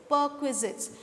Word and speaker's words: perquisites: and last of all per quizzits i'll repeat the pronunciation once again students it is perquisites perquisites or perks are also